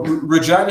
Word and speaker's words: Regina: up in you know regina saskatchewan and uh it's actually named regina and that's how you pronounce it just regina not regina just fyi uh um but you